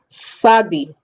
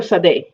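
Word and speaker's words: tsade: is a sadie or sade uh it could be t z a d e or t s a d e it is not taba almost like the tea is silent a little bit you know like instead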